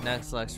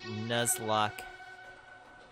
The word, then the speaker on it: Nuzlocke: You know, Nuxlux, right? Sort of. I probably forgot. It's been a while since I played Pokemon. I don't need that Pokemon. Let me see. It's pronounced Nuzlocke.